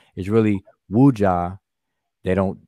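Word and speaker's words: wedja: saneb that middle word ujja is really wuja they don't people don't pronounce the w wooja but is a status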